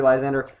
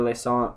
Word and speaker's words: Lysandre: more important around china we have three lysandre or laissant or less andre or however the heck do you want to pronounce it i go i say lassong because it's french but um anyway uh